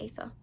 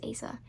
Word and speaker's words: Asa: It's spelled A-S-A, so I'm going to say Asa.